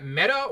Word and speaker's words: Meta: Uh Meta with a long E.